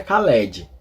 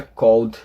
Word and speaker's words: called: inglês a gente pronuncia Called ó perceba eu não pronuncio e eu pulo o e e pronunci o d